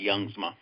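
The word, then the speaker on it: Jongsma: I pronounce the J like a Y, Youngsma.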